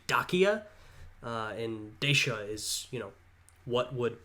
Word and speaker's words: Dacia: I've heard it pronounced Dacia. That's how I would pronounce it. Of course, if you're pronouncing it as they would have at the time, it would be Dacia.